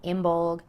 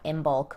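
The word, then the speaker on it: Imbolc: wrong at some point so it's not in bulk or belting it is imbol and beltna or beltana or beltana comment down below which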